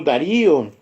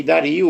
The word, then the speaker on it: Dario: Aí estava o rei Dario, ou Dário, como alguns pronunciam.